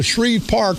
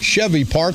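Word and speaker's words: Scheve Park: always need to be corrected he says the Shreve Park but it's pronounced Chevy Park so I want to apologize to all the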